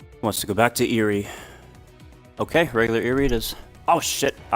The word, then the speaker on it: Erie: game we are trying to go to regular Erie the Erie the Aerie excuse me the area mr. critic correct pronunciation are so I'm told by those who